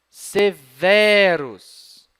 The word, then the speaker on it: Severus: Vamos tentar agora assim, ó. Severus. Ah, melhor. E é assim que se pronuncia. Porque tem bráquia na penúltima, na sílaba V. Tem bráquia? Não tem bráquia. Então, se não tem, essa é a tônica.